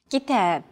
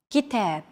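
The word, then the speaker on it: كتاب: Kitab. Kitab. Notice that the second syllable is stressed.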